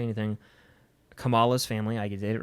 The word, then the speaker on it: Kamala: Kamala's family.